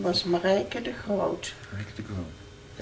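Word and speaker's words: Maryke: I want to hear you pronounce your name with the Dutch accent. Your Dutch name. My name was Marijke de Groot. That sounds nice. Marijke.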